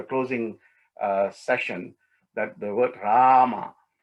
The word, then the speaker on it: Rama: with the word so when you say rama you say rama just elongate that a little bit in between then